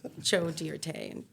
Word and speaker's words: Joe Dirt: situation what' you say it's dear de it's pronounced Jo dear T exactly Alana Rose like come on I'm giving